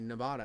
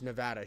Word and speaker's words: Nevada: you mean n and she like corrects me Nevada I'm like no no no I'm from there it's Nevada she like no you're wrong and I'm like what